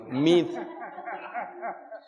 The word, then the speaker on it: Meade: Hay un tipo que se llama Pepe, no, se escribe el apellido Meade, suena feo, sino Mid.